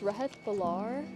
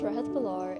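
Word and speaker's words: Rehat Bhullar: Um, what's your name and how do you spell it? Uh, my name is Rahit Balar.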